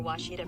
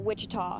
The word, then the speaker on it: Washita: Searching for Washita Baptist University. Back in Texas, everybody pronounces it Wichita, but really, it's Washita.